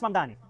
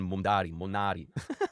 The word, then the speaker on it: Mamdani: Fíjense, nadie sabe pronunciar mi apellido. Es Mamdani, pero Es Mamdani, pero a cada rato me dicen Monari.